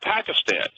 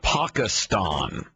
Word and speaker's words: Pakistan: Pakistan. China. Pakistan. That's actually the correct way to pronounce it, especially if you work for NPR.